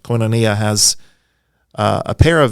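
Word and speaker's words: koinonia: just for clarifica how do you say it coinonia coinonia yes and it's a great you know there's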